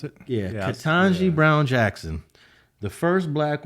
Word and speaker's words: Ketanji: congratulations to ken katanji is that how you pronounce it yeah katanji brown jackson the first black woman in 200